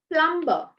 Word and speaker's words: plumber: it is subtle and plumber plumber it's not it's not plumber it's plumber plumber b goes silent okay can you see